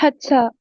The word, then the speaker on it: Hadassah: I'm really sorry. I don't know how to pronounce It's Hadassah. It's Hadassah. Okay.